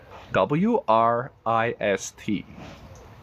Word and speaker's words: wrist: r r r wrist make sure you focus on that r next one s u